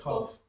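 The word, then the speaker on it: Kaph: So number 10, Kaf, or kof or whatever, right? That's how you say it, right? Yeah, cough. Kof.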